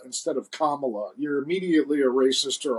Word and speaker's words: Kamala: you don't say it then it's like saying Kamala instead of Kamala you're immediately a racist or a horrible person